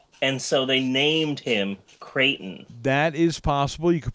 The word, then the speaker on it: Creighton: Creighton? Like Peyton, but with a crate? Like he was conceived on a crate, and so they named him Creighton.